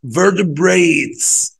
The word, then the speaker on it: vertebrates: vertebrates. ممكن الار دي تاكلها خالص كده تقول vertebrates vertebrates vertebrates vertebrates اللي هي الفقريات، الحاجات اللي ليها باك بون، عمود فقري.